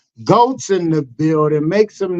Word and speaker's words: Goetz: And Goetz as if there was no O. How is that for confusing? Very confusing. Okay. So it's Goetz.